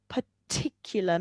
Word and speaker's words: particular: Also, the pronunciation of particular. Make sure you pronounce the t sounds.